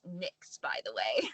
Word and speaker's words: NYX: going back and forth and they're like it's nixed by the way like and I see Kay ice is like how you pronounce it I was like I never knew